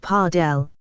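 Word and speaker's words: padel: Pedal, pronounced parardell, is a high energy hybrid of tennis and squash.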